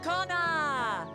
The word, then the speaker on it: Koana: Hey, Kona! Wait, the first A is silent?